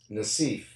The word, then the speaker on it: Nassif: and remember it's interesting my background is Lebanese oh and and you said naseef did I say it wrong wrong actually in Europe and in Lebanon that's exactly how you say it thank you here I